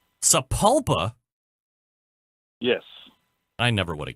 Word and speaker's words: Sapulpa: And it is pronounced Sapulpa. Sapulpa?